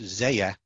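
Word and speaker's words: Zelle: is from venezuela where the taxicab says we accept zaya that's how they pronounce it so they've sort of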